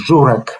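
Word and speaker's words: Żurek: flag bearer of the coherence problems is vertex zurek and this is the correct pronunciation of history okay and perhaps uh i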